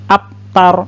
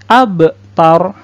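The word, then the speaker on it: أَبْتَر: sukun Huruf bak sukun Nah hurufba itu kalau dia sukun maka hukum bacaannya disebut atau hukum tajwidnya disebut dengan Qalqalah jadi bunyinya itu harus di pantulkan Nah jadi ABS ABS atau tidak boleh app Aftar Selain itu salah yang bener abtar nah coba kita sekali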